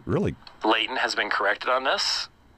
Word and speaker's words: Leighton: I even joked about that, saying, well, Leighton, I even said Leighton rhymes with Satan, dum, dum, dum, type of thing.